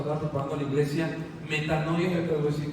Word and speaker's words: metanoia: Preparando a la Iglesia, subtítulo Metanoia, así como se escribe, meta, no, y latina a metanoia. Preparando a la Iglesia, metanoia.